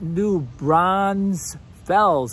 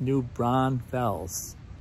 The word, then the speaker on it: New Braunfels: So it is not New Braunfels. We're not in the Olympics. We're not getting bronze medals here. It's New Braunfels.